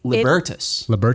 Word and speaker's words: Libertas: that wrong everyone does how do you say it libertas not libertas which i want to say literally everybody wants to say libertas because that's connor's being but cutesy yeah about